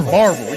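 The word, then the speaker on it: Barbourville: And they all pronounce it the same. Barble. Bar. Barvel. You got to get one syllable. Try to roll that off your tongue.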